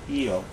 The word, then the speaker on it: Io: they can even be seen on eio or IO depending how you pronounce it so lava tubes are